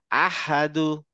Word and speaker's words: أحد: আহাদু। أحد very good. War Rahman. والرحمن perfect, মানে একদম perfect উচ্চারণটা পাইছি আমি, ভেরি গুড, থ্যাংক ইউ।